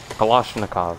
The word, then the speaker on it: Kalashnikov: Kalashnikov, that's how you say it. Not Kalashnikov. Okay, gonna rename it.